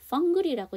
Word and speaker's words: fungal: 펑글이라고 얘기를 하고, 우리가 앞에서 잠재적이라는 단어가 하나 나왔어요. 뭐였죠? 포텐셜이었죠. 거기서 AL은 묵음인데요. 여기 펑글에서 AL이 또 나오죠. 이게 형용사다 보니까 그럼 이거는 뭘까요? 그렇죠. 여기도 묵음이야.